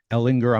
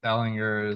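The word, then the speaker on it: Ehlinger: I had not been thinking about Sam Ellinger, but yeah, certainly in Ellinger. I'm going to follow your lead with the hard G on there, Sam Ellinger.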